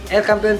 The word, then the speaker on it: El Campeon: And then El Campeon, El Campeon Pigeon Feeds, yun ang tamang pronunciation mga kalapati.